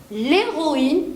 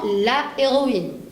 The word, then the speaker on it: héroïne: erreur, justement, parce que le H dans le mot héroïne, c'est un H muet. Et le H muet autorise la liaison avec le mot précédent. Comme ici, je vais dire l'héroïne et non la héroïne.